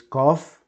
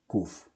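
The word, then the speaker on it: קוף: Actually, the name of the letter is Kof. Kof. But everybody, including me, calls it Kuf. Okay? So let's say it can be called Kuf or Kof. Whatever you like the most.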